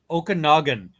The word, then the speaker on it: Okanagan: And how do I pronounce that? Okanagan? Sure. Okanagan.